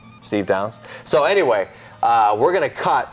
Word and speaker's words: Steve Downes: Master Chief what yeah Steve Downes is that how you say it yeah I like how his name is spelled do wnes Ness yeah Steve Downes so anyway we're gonna